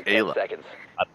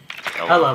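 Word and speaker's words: Ela: Why did you say Ayla? Is that how it's pronounced? Ella, like Ella.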